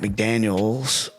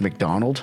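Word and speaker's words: Macdonald: I was talking about Mike McDaniels in Miami, and I think I called Mike McDonald Mike McDaniel singular, but it's actually Mike McDonald.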